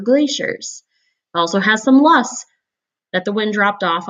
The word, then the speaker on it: Loess: Loess rhymes with bus, and these were created